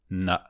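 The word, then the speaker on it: 呢: Chữ cái "e" trong bính âm được phát âm giống như thán từ trong tiếng lóng 'duh' hoặc tiếng Pháp "e", rất mở: ne.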